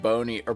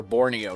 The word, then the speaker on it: Borneo: Rubber discovered in North Bon or Borneo, not Bono.